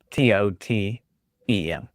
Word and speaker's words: Totum: Totem. Yes, correct. So it sounds like T-O-T-U-M. Oh, is it T-O-T-U-M?